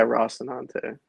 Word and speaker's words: Rocinante: Yeah, Rocinante. Yeah. Okay, I pronounced it wrong for a long time.